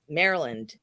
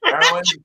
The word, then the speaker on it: Marilyn: That's how some people pronounce my name. Maryland. Maryland, yes. Marilyn.